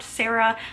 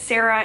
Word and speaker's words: Sara: I've been pronouncing it Sarah. It's spelled in the book S A R A and all of the people that I know with that name go by Sarah, but it is Sara.